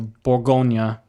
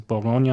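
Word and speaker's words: Bourgogne: needles so this one the regional designation the boronia so spell that for us Jay if you would b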